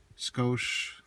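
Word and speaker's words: Scosche: Uh the kit I ended up getting is the uh Scoch, that's how you say it, 70-1761.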